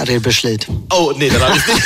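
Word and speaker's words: Redbergslid: So ein bisschen, du bist dann 1989 nach Rettbergslitz, habe ich das richtig ausgesprochen? Ja, Rebeschlitz.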